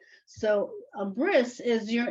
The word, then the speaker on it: bris: told you sometimes the the T in Yiddish is pronounced as an S so a bris is your it's the